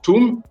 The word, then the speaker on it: Atum: Et dans la cosmogonie, par exemple, d'Héliopolis, donc on va appeler le créateur, ce qu'on appelle le démiurge, Atum, en fin de compte, ça se prononce Tum, qui signifie façonner.